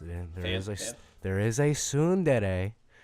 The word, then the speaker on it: tsundere: is a tsundere. Is it tsundere? Or... Yeah. Yes. Okay. Get your pronunciations right.